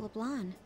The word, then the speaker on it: Leblanc: How about LeBlanc? That's how it's pronounced.